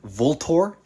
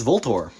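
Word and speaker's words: VLTOR: guns originally wore sport had volt or and yes that is actually how you pronounce them I literally had a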